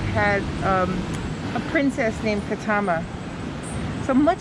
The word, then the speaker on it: Katama: a little prayer at the marley room um katama is actually how it's pronounced means place to fish to fish yeah